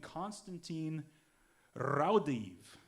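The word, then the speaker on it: Konstantīns Raudive: of evps actually started by a man named constantine raudev that's actually how you pronounce it you'll hear later uh he was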